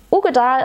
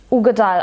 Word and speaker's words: Uigeadail: Ugedal als Name, Uigedal geschrieben, glaube ich. Ugedal ausgesprochen, kommt vom Loch Ugedal, der Name.